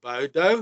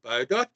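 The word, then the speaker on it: Baudot: Nou keyboard to keyboard there was a clever guy by the name of Emil Bodo. Uh some call it Bodot but the French never pronounced the T. So it's Bodo.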